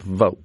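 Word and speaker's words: Vought: But Russ Vault is uh I think he pronounce it vote does he not? He v O GT.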